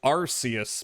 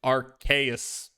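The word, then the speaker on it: Arceus: Originally pronounced like Arus, but then Pokemon realized ars. Now it's officially pronounced like Arus.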